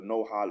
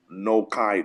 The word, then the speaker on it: Noahide: Shiva Mitzvot Benai Noach, also referred to as the no-hide laws, or the no-kide laws, from the Hebrew pronunciation Noah, right?